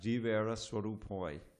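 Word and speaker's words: জীবের: get in the Sanskrit, you get some silent letters, like the final A's. So it's Swarupoi, but the final A on Jivera is sound. Jivera Swarupoi.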